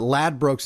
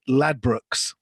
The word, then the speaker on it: Ladbrokes: Ladbrokes, and our New Jersey and New York people may not know what that is, but Ladbrokes is a British betting and gambling company, and we pronounce it Ladbrokes.